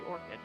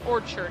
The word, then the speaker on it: orchard: return to the mulberry orchid orchard it's orchard actually it's not four kids orchard we're actually close to leveling up to 84.